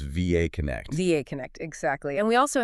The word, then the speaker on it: VAConnect: And that's pronounced VAConnect.